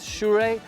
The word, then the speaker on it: Sirui: shure and you know many youtubers have been struggling to pronounce these this name but i checked with them they sent me an audio recording is shurey these new shure anamorphic